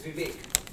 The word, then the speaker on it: Vivek: It's Vivek. Vivek? Vivek. Yeah. Vivek? Yeah, just ask Marjorie Taylor Greene how to pronounce Vivek.